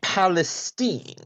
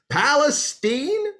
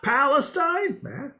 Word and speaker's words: Palestine: Great, Zeke, but actually, it's Palestine. Oh, well, excuse me, Palestine. So we're going with the hoity-toity pronunciation now, are we? Well, actually, it's a good old Texas pronunciation.